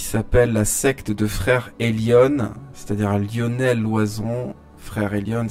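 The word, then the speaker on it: Elyon: Euh, j'aimerais faire une petite digression finale ici sur une secte catholique qui s'appelle la secte de frère Elion, c'est-à-dire Lionnel loison. Frère Elion, ça s'écrit E L Y O N qui se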